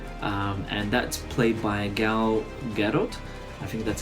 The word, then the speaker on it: Gal Gadot: is in it and that's played by a gal gadot I think that's how you pronounce her name and yeah she did a